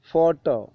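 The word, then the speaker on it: photo: ഫാഴെ ചുണ്ട് മുകളിലെ പല്ലിൽ ഫാൻ fan fast fund ഫോട്ടോ ഫോട്ടോ ഫോട്ടോക്ക് പി എച്ച് എന്ന അക്ഷരങ്ങളാണ് വരുന്നത് നമുക്കറിയാം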